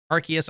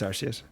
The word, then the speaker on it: Arceus: gushing about pokemon legends arceus arceus whatever you want to call it it's i call it rc it's technically because of how it's actually pronounced in japanese but regardless it's always our series sorry regardless though the